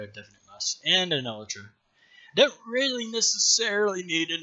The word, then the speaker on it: elytra: It is pronounced elytra. Tyler, log.zip, is the only one I've heard do it correctly.